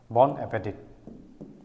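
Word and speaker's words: bon appétit: খোৱা হেতুকে আমি কওঁ bon appetit t to silent থাকে pronunciation next bon voyage bon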